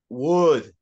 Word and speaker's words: would: look at the chat the L is silent so would would would you mind